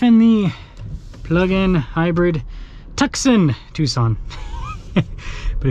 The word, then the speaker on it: Tucson: the plug-in hybrid tuxen Tucson but if you ever forget get how to pronounce Tucson you just Texan that's what you do